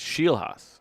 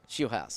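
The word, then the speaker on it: Scheelhaase: okay he said it's he said it's shei house she house shei house shei would know that's what he said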